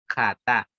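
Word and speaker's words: חטא: Y la primera palabra que vamos a estudiar, que la voy a proyectar, es esta, que en hebreo se pronuncia así, jatá, ¿ya?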